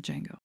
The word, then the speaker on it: Django: and then he says you know the D is silent and the Italian man says I know it's because that man is played by Franco Nero whose breakout film was the film Django another great example of